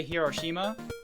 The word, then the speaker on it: Hiroshima: hiroshima we all say hiroshima in japanese it's hiroshima like like one roll of a rolled r which kind of sits between l interesting okay anyways